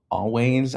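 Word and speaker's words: Alvvays: It's spelled with like a L va ys, but it's pronounced always.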